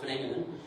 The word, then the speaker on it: Wageningen: It's actually spelled Wageningen, but it's pronounced Verenigde.